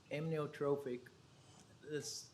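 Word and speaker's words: amyotrophic: going to ask you for the uh correct pronunciation. Is it amnotrophic? Close. Okay, say it for me. Amnotrophic. This that's why we go by ALS or why they go by ALS.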